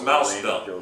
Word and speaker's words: Mao Zedong: The T's pronounced with a D.